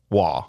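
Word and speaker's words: Waugh: It was directed by Scott Wah. I think that's how you say it. W-A-U-G-H. Common spelling? Yeah. Wah? Wah.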